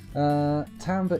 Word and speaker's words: timbre: Timbre is how the music professors pronounced it in my classes.